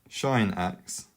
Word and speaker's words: sinh: And then finally, we have tanh x, or some people pronounce it fan x. This is defined as shine x, or sinh x, over cosh x, which equals